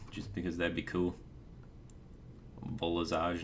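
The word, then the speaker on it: Volazj: Volazage, not Vol'jin.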